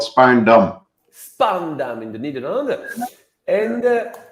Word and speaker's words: Spaarndam: You want to go to that course in how do you pronounce it? It's a very small town near Haarlem, but it's called Spaarndam.